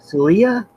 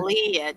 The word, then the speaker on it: Clea: Uh, Miss uh, Miss Celia? Is that how we pronounce it? Clea, jeez. Leah? Clea. Clea. Welcome.